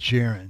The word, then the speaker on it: Jaron: Is it Jerron and not Jaron Williams? It's Jaron.